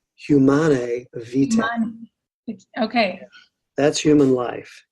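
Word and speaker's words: Humanae Vitae: It's humanae vita.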